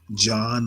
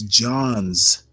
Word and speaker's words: Johns: I have to, one of my pet peeves is when people pronounce it John Hopkins. It's Johns with an S, Hopkins.